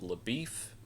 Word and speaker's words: LaBoeuf: And so she goes on this adventure with him and there is also this uh Texas Ranger named uh it's pronounced LaBoeuf, but it's spelled LaBeouf.